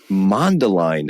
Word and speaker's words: Mundelein: Mundelein, Illinois.